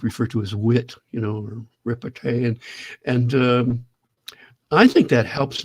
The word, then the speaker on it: repartee: It's repartee. Is a Oh, French word, repartee, that repartee.